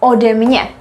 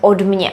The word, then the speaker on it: ode mě: And you can see the pronunciation is easier because we have two consonants, d as well. Or a very, very common one is ode mě, from me. There I've never heard od mě.